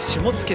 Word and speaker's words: 下野: 下に野原の野って書いて下野って読むらしいです。